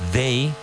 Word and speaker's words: they: And with they, ask yourself a question. What's the capital of Aragon? The capital of Aragon is Zaragoza.